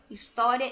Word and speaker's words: história: que a gente destacou, história e filhos. É possível afirmar que o H é sempre pronunciada? Será? Vamos lá. Lê aqui com a tia. História. Não pronunciei a letra H.